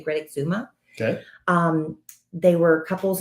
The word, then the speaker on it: Great Exuma: sandals emerald bay on great exuma island i think is how you say greta zuma okay um they were